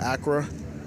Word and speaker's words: Accra: I don't know if I'm saying it right, but Accra.